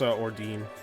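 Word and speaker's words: Ordine: and lost against okay good to know it's pronounced ordin god what was the deal with that like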